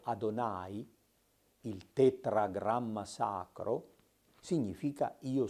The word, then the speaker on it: Adonai: testamento quello che abitualmente nella tradizione ebraica viene pronunciato adonai il tetragramma sacro significa io sono il gesù